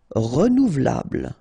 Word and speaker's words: renouvelable: Renouvelable. Look, renouvelable. Remember, bl, bl at the end. But then this E here is not really pronounced. So, renouvelable, renouvelable.